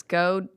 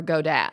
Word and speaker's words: Gadot: But Kevin and I are debating on if it's Godot or Godat. I thought it was Godot, and then I saw something on Jimmy Kimmel about pronunciation. She said Godot, that there's a T in it.